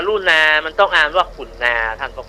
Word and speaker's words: กรุณา: แล้ว คำ ว่า กรุณา มัน ต้อง อ่าน ว่า ขุนนา ท่าน พระ คุ เจ้า ความ ขุนนา เพราะ ตัว